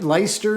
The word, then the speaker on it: Leicester: especially like popular local brewery and uh light leicester is that how you pronounce that i think that it is yeah